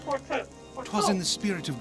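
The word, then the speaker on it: Fortemps: Forton is what how it's pronounced. Not Forton.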